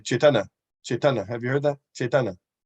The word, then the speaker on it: Caitanya: you pronounce the Y caitanya right but in the Bengali pronunciation if you listen you don't pronounce the Y you hold on to the N longer time and you'll you'll hear